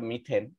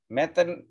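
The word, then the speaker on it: methane: যেমন এখানে একটা কার্বন আছে, তাইলে এই মিথের সাথে এন যোগ করে আমরা মিথেন, এই যে দেখছো METH, মিথ, এটা উচ্চারণটা আমরা পড়বো মিথ, ম্যাথ না, মেথেন বলবো না, আমরা বলবো মিথেন।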